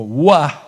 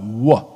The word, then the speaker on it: Vav: idioma moderno hebreo, pero antiguamente la Vav se pronunciaba como Wah, acá abajo, gutural, Wah, ¿ok?